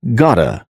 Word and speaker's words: got to: Got to is pronounced as gota.